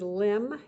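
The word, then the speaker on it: limn: music do you like for instance next is limb you don't pronounce the end on the end just like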